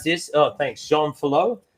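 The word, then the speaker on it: Jean Fillioux: And then, how do you pronounce this? Oh, thanks, Jean Filou. Jean Filou.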